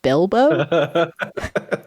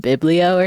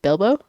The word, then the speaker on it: Bilbo: also botched the pronunciation is it Bilbo it is it's Bilo baggin I think I kept calling it biblo or something like that like biblio like back in like Spanish 101 but like Olivia my